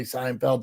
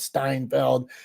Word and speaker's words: Seinfeld: Like he'll say Seinfeld, Steinfeld.